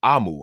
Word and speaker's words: Omu: designs as luscious as omu stew with an extra serving of love an author's note explains that omu uh pronounced AMU I'm sorry AMU means Queen in the